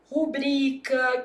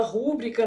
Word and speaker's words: rubrica: Por exemplo, rubrica que o povo fala rúbrica, né? Ah, não existe rúbrica não.